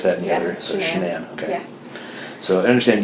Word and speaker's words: Shanann: So, I understand that you are pretty good friends with Is it Shannan or Shannan? It's Shenan. You pronounce it like Shenanigans.